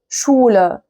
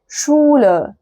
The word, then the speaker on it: Schule: لكن دي بقى الاس سي ها هي انطقوها بقى براحتكم، انطقوها شين عادية. زي كلمة ايه؟ زي كلمة شولة. شولة. دي شولة. die Schule.